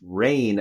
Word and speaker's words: Reign: But it's rain, as in City of Rain, Seattle Rain, but it's spelled Reign.